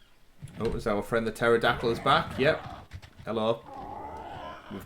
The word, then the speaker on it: pterodactyl: hello there's a terador not pterodactyl with a silent p now it's hard to